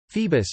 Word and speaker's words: Phoebus: Apollo's chief epithet was Phoebus, Phoebus, Phoebus, Phoebus, Greek pronunciation po acute I dot bos, literally bright.